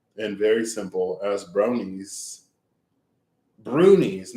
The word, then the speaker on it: brownie: Brownies are shaggy, ugly little dwarves. Not shaggy, ugly little dwarves. That's rude. Their name is properly pronounced Bruni and not Brownie.